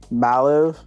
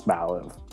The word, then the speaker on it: Mallive: think of it, is it's like you're going to say Malibu, but then you say something that's a lot cooler than Malibu, and it's Malllive.